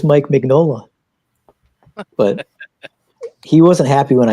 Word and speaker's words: Mignola: He's been saying his name wrong for so long that he actually thinks it's Mike Mignola, but it's Mike Mignola.